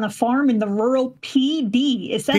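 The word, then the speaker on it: Pee Dee: farm in the rural PD. Is that PD. The name of the place? Yeah, it's the rural PD. Yeah. P spelled like urine.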